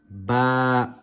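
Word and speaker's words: باء: are pronouncing these letters, some people tend to pronounce them as alif, be, te, the. That is incorrect. That is from the Urdu alphabet, not the Arabic.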